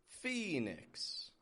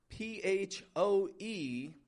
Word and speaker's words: Phoenix: And this one's tough not only because of the PH, but also because it has this O-E spelling in the beginning that we pronounce like an E. P-H-O-E-N-I-X. Phoenix.